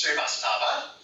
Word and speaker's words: Srivastava: Srivastava.